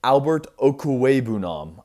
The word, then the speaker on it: Albert Okwuegbunam: Additionally, though, the Broncos did draft, I'm going to struggle with this name, but Albert Okwuegbunam. I believe that's the correct pronunciation.